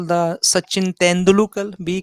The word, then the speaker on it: Tendulkar: call the Sachin Tendulkar?